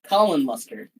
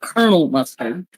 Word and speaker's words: Colin Mustard: Colin mustard. Not Colonel Mustard. Colonial Mustards. Colin Mustard. Is Is it apparent that I purposely made some of these names harder to pronounce cuz your brain wants to say one thing?